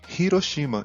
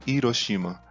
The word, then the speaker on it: Hiroshima: português, como em carro, seriam incorretamente pronunciadas ignorando o H. Como a cidade de Hiroshima e não Hiroshima, e o rolinho primavera, o Harumaki, não Arumaki.